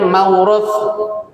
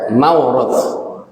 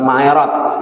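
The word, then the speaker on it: موروث: Kemudian yang ketiga adanya mauruth. Bacanya yang benar ya, Pak, jangan kepleset. Mauruth, bukan ma'irot, mauruth.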